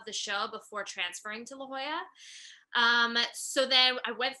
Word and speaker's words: La Jolla: do you say it la jolla la jolla playhouse yes there we go yeah i could never get that yeah i know we're like lijala yeah um yeah so